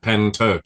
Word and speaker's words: Pentyrch: apologies for the pronunciation pen as like a writing pen and then Turk you know tur like turkey but pen Turk you okay so that